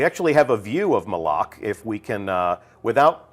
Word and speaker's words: Malok: has left uh and that is malok malok right official pronunciation confirmed so if you hear anybody saying Moc send them right here to the archive of this stream our design leaders told us it's malok we actually have a